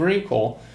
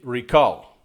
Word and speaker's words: recall: I would say recall, stress the second syllable, but he's saying recall. Like in a weapon that you can say this kind of thing. It's similar to this, once you shoot. So happens that in American English, when it's a noun, you can have both. Second syllable, first syllable, interesting.